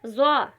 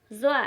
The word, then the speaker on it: ظا: رہا ہے، طیب، طا۔ پانچواں حرف ہے ظا، ظا۔ یہ حرف بھی پر پڑھا جاتا ہے، یعنی موٹی آواز میں ہم اس کو ادا کرتے ہیں۔ اس کا تلفظ بھی زبان کی نوک کو اوپر کی طرف اٹھا کر کیا جاتا ہے۔ جب ہم اس حرف